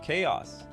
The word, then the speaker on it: chaos: of fools ha it's is it chos rhymes with chaos oops hate uh chaos